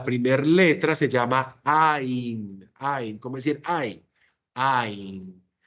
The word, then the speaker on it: ע: Esa letra Ain, ¿se pronuncia o no se pronuncia? Decíamos ahorita. No se pronuncia. Es una como si fuera una H. decíamos nosotros, ¿cierto? No la pronunciamos.